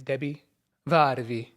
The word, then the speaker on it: Debi Varvi: correctly yes you did and her name is Debbie vvi welcome to the podcast love your pronunciation thank you gotta and how's your day